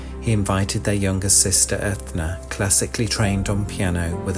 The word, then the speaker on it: Enya: of Enya.